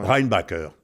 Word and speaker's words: Reinbacher: ne va pas, là, tu sais, dans la prononciation vraiment pointue. Ouais. Reinbacher.